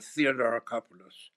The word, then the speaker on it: Theodoracopulos: So, to help us figure it out, we've invited Taki Theodoracopulos. Theodoracopulos. Taki, you want to tell me your last name? Yes, but I just go by Taki, but Theodoracopulos. Theodoracopulos.